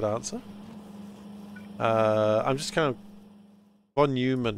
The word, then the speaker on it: von Neumann: Von Neumann is pronounced von Neumann in German.